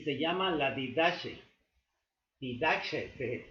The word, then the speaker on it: Didache: Didache se pronuncia así con la J egipcia, con la J griega, y este libro es la enseñanza de los 12 apóstoles.